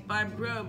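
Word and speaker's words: Grobe: It's Barb Grove, rhymes with lobe, like earlobe.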